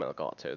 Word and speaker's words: Elgato: Have a little look on the Stream Deck Elgato, not a Stream Deck from Elgato, that is the right pronunciation.